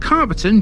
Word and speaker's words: Calverton: Calverton, which is often pronounced Carverton due to the derivation of its name, Calf Farm, lies in a small